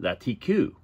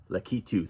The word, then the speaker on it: Lakitu: I had the K and the T screwed up. I was calling it Latiku, but it's Lakitu.